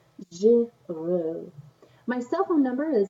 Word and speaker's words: Girot: Girot, and it is pronounced Frenchly Girot.